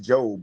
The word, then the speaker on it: Job: It's pronounced Job, but we know job.